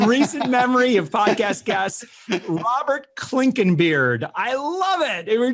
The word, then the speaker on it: Clinkenbeard: with us right now, a guy who probably has one of the coolest last names in recent memory of podcast guests, Robert Clinkenbeard.